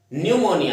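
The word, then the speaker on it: pneumonia: न्यूमोनिया ये शब्द भी एग्जाम के अंदर काफी पूछा जाता है, न्यूमोनिया, क्योंकि इसके अंदर स्पेलिंग जो है पी से शुरू होती है, जैसे हमारे साइकोलॉजी वर्ड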